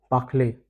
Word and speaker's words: parlez: Vous parlez. EZ is A.